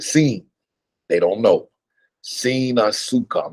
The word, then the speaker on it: sin: And sin is spelled S-I-N. So most people, when they see it, they'll say sin. And there's a difference when you say sin versus seen.